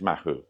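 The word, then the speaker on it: Mahou: they do a now let me pronounce this right Maho mahu mahu mahu apparently it's mahu I've got a mahu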